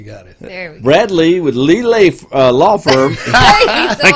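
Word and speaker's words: Brad Leigh: Not L-E-I-G-H, but pronounced Lee. It's not one word. It's not Bradley. It's Brad Lee.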